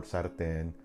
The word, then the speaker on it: sartén: Same thing for sartén, Cortés. The rule states if a word ends in an N or S, the second to the last syllable should have the stronger stress.